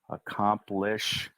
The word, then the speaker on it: accomplishments: now in this word it's almost as if that first C we don't say we say aomp accomplishments accomplishments accomplishments those are the foot